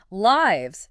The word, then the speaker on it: lives: Lives. Say it. Lives. Short I sound like bit and it ends with a z sound.